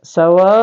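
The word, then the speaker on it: سَوَاءٌ: adalah mad wajib muttasil jadi menandai bahwa kita lihat di sini ya ada tanda fathah ada Alif dan ada garis panjang di atas kemudian ada Hamzah di depannya ah maka ini ee cara membacanya itu adalah dipanjangkan sampai lima harakat ya sampai lima harakat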